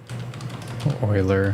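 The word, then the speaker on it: Euler: do make aatan from Oiler I know what's pronounced weird I like saying uler cuz it it's what I'm used to is it curnan as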